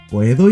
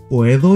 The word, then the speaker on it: puedo: ¿Puedo ir al baño? Can I go to the toilet? Repeat. ¿Puedo ir al baño? ¿Puedo ir al baño? Make sure you don't say puedo. Pronounce it as puedo.